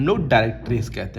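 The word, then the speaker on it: directrix: Line बोलते हैं उसको हम लोग कहते हैं डायरेक्टिक्स। क्या कहते हैं बच्चों? बोलिए डायरेक्टिक्स बोलते हैं बच्चों। ठीक है? डायरेक्टिक्स की spelling D आई आर ई सी टी आर आई एक्स।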